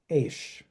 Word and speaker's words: AISH: Co-director of the Academy for International School Heads, which how is it that you pronounce that acronym? AISH.